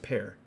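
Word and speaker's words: Pär: gentleman um yeah hey part if you're watching you wanna hang you wanna hang out wait did i call him par at pear you pronounce it pear wrong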